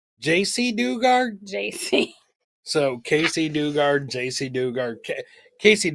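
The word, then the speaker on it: Jaycee Dugard: you've got that wrong so that's like casy Casey Dugard dard did I say it wrong JC Dugard JC so Casey Dugard JC Dugard Casey dard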